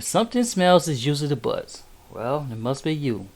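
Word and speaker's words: Butz: did this and I got your name name butts is that's the way how you pronounce it wow oh Nick you got to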